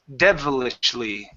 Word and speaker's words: devilishly: Now, the trick here, um, you can't let your tongue touch your touch the back of your teeth when you say that D. Okay? So, it's not vevel. It's d devil devilishly.